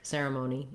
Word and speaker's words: ceremony: So first of all, looking at the word ceremony, we have letter C saying S in this word. So C typically either says the K sound like cat or the S sound like ceremony and cereal.